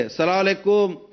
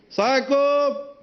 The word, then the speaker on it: السلام علیکم: کہہ لیں، السلام علیکم۔ دیکھیں سلام کا صحیح تلفظ ہے السلام علیکم، السلام علیکم نہیں، السلام، السلام، السلام، السلام